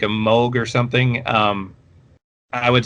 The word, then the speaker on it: Moog: like casio synthesizers as opposed to like a moog or something um i would say hold on